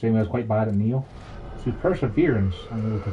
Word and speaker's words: Nioh: I find it amusing that the second screen app doesn't know how to pronounce Neo, so it says NIOH. It's like, nope, that's not a word.